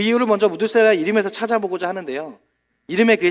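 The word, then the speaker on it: מתושלח: 그 이유를 먼저 무드셀라의 이름에서 찾아보고자 하는데요. 이름에 그의 실마리가 있어요. 무드셀라의 히브리식 발음은 메투셀라흐라고 해요. 메투셀라흐. 이 뜻이 뭐냐면 창을 던지는 사람이에요.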